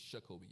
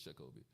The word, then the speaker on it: Shakobe: uh Dr many folks have said hey shakobe that's how y actually pronounce my name is shakobe y'all just to say it's shakobe shakobe um you should up